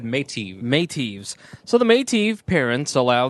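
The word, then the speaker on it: Meitiv: So how did they pronounce it? Medev? They said Métis. Métis.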